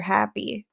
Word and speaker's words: Happe: Happy. And it was Happe, but he pronounced it Mr. Happy.